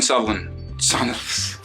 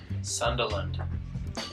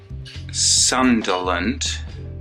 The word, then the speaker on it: Sunderland: Dylan Sutherland. How do you say it, Angus? Sunderland. Dylan Sunderland. Correct.